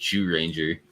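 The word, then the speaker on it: Zyuranger: It's pronounced Jew Ranger.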